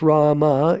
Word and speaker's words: Rama: Ram, pronounced Rama, is the incarnation of Vishnu as the prince of responsibility.